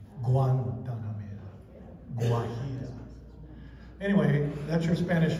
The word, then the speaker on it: Guantanamera: in Sonora, Mexico, because they make that G-U-E sound like a W. But in regular Spanish, in other words, the rest of the world, it's a hard G. Guantanamera.